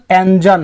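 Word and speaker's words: engine: ऐसे तो इसका सटीक प्रोनाउंसिएशन एंजन है, एंजन ना, जिन नहीं, जन। जब भी जी के बाद ई आई वाई अगर लगा हो तो वहां पे जी को ज ही उच्चारित करते हैं, अन्यथा इसको ग उच्चारित करते हैं।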